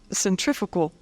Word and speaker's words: centrifugal: it the centripedal and the centrifugal the proper pronunciation of those words if you're scientific is centripetal and centrifugal but for the sake of U hearing I'm